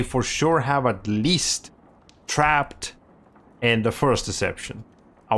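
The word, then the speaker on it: Trapt: spin off ish title on playstation 2 called trapped that's spelled t-r-a-p-t not p-p-b-e-d no p-t trapped weird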